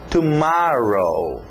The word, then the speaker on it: tomorrow: Então, tomorrow. Olha esse O agora aberto, som de A.